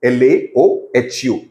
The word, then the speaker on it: Laohu: This is pronounced the way it is, Laoho, Lahu, Laohu, with a space between A and U, A and O, and O and H.